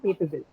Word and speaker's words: capable: It's on cape. It's three. How many syllables? 3. Capable, right? Cape. Cape plus B. And bull, right? There are 3 syllables, right?